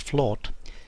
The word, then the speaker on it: flat: are derived from an old norse word flawed f l OT but pronounced flawed meaning a level area